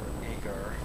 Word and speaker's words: Agur: Remembering that these are the words of Agur, or Agar, however you want to pronounce that, son of Jacob.